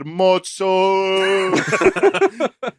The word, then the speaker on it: mozzarella: Yeah, let me tell you, it's mozzarella. Oh, your breath stinks. You I'm gotta looking. say it like my grandma said it, who you never met before. She had a funny thing where she said, mozzo.